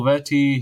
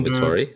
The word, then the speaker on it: Vettori: Daniel Vetty, he's Daniel Vettori, New Zealand.